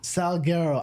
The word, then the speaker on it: Sulguero: Sulguero.